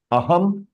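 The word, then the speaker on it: अहम्: But in both the cases, the pronunciation is the same. Aham, aham. Why? Because anuswar also is the sound is half ma, and here it is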